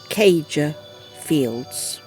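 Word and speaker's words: Céide Fields: We're standing in the world's most extensive Stone Age monument, the Clyde. We'll check the pronunciation. It's actually pronounced Cager Fields.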